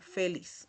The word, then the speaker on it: feliz: Aquí tenemos la palabra feliz, que igual que en español se pronuncia como si al final tuviese una s, ¿okay? Feliz en español. Y igual en portugués lo leemos igual. Feliz es la misma pronunciación.